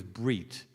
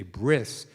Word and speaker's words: brit: Covenantal community, the word covenant, of course, from Hebrew is brit. What happens at Mount Sinai is that we think about brit, or if you have Ashkenazi pronunciation, you say bris.